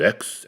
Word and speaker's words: Aix: I didn't even know I didn't know how to pronounce AIX but it's X Exxon Falls we're gonna